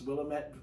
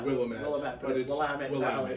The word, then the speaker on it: Willamette: and this is residence willamette willamette valley right can't believe i almost mispronounced that uh i think a lot of people call it willowman yeah um so as